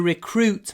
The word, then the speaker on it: recruit: We need to recruit more staff for the summer season.